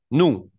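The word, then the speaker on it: nous: la primera se pronuncia nu nu que es nosotros nu la segunda persona se pronuncia Vu con v pequeña Vu como pueden ver esas eses no suenan nu y Vu solos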